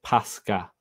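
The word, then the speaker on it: πάσχα: And it says, and it is pronounced Pascha.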